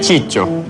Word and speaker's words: Ciccio: halo jadi cio atau ciciio eh sebenarnya itu kan nama Itali kalau nama yang maksudnya pronunciation yang benarnya cico cico cico ya gitu cuma tapi